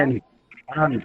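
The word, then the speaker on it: aren't: পড়েছিলাম তাই না আর আন্ট হ্যাঁ আর না এটা উচ্চারণ করবো আন্ট কি বলবো আন্ট আন্ট আন্ট হ্যাঁ ইউ আর কুকিং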